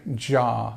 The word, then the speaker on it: jar: This, of course, is not y, as some people might think it might be, but it's j, jar, okay? And we have this long R sound as well.